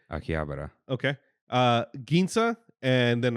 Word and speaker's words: Akihabara: Uh, we went to Shabuya, Shunuku, Aki, Habar, Habra, or Akibara, I don't know how you say it. Akihabara.